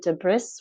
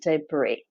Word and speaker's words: debris: breaks apart apart so even though there's an s at the end we don't pronounce it debris we pronounce it debris what is left over